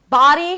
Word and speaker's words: body: So, body has the a as in father sound. Body. So, you need to drop your jaw. Ba. And take your time. This is the primary stress. Body. Body. Now, you may hear this, but the D is like a flap D. So, it sounds more like a R sound.